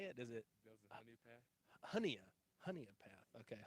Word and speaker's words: Honea Path: how do you say it is it honey honey a path okay honey in path up here in South Carolina talking that Georgia's